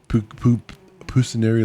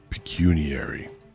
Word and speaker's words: pecuniary: Pucinary law pukinary pinary peckinary.